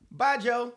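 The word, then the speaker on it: baijiu: thousand a bottle whatever B AI J IU but pronounce it like by Good by Joe bye Joe bye Joe there you go is there a cheers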